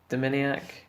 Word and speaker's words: Dominiak: I'm pretty sure that's how David said that you pronounce Dominiak, but Zoo has one in the end there as well.